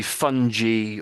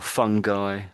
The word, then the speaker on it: fungi: And so it could be fungi or fungi.